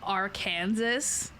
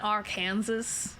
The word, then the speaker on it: Arkansas: But it's spelled like Arkansas. And I remember when I was little, I thought that's how you would say it, because it's Kansas. I thought it would be Arkansas. It's not Arkansas, it's Arkansas.